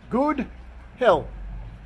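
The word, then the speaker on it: god helg: swedish curio here outside the supermarket this is pronounced good hell which means good weekend in swedish a little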